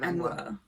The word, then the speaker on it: Angua: I've never really figured out how to pronounce Angua, and I was really dreading it when we get to her turning up in the book, so I might go with Angua.